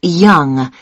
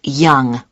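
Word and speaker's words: Yonge: Yes, it's Young. Young. That's... That's spelled Y-O-N-G-E. That's Young.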